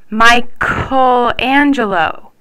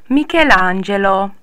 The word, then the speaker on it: Michelangelo: move on to G's if you want to keep the soft k sound before an e or an i you have to insert an H so c h e